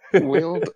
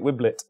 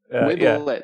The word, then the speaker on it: Wiblet: Laurie Huggett Wild, however you say that? Yeah, it's Laurie Huggett Wiblet. Whippet? Wiblet, that's the one.